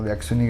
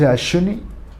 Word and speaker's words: Axuni: About one or two days passed and I came up with a name like AXUNI GRÁFICO, which in Purépecha means deer is actually pronounced asshuni, but most people with